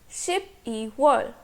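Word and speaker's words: 십이월: 12 is 10 plus 2. Ship E. So December is Ship E World.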